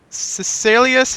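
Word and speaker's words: Caecilius: different time period Capaldi uh previously played uh cecilius is how it pronounced on uh the fires of Pompeii a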